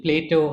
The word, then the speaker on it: Plaeto: getting it wrong no it's actually Plato and spelled with an additional e It's a combination of